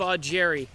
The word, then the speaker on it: Augeri: you've got a Steve you've got an e sound at the end of his last name you've got Steve odd Jerry this is why Steve augury worked so well when